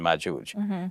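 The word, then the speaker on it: مأجوج: But in the Hebrew, the Jim is pronounced with, it's a hard G. So Gog and Magog, whereas in Arabic, it's the soft G, like in George. So it's Ya'juj and Ma'juj.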